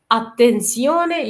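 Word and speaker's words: attenzione: طبعا احنا خدنا ان حرف زيتا لما بيجي في منتصف الكلام بينطق اتنسيوني، تمام، اوكي. غير في بدايه الكلام بينطق زاينو زيو، اوكي، فبينطق ايه بشكل مختلف، تمام، اوكي، تمام.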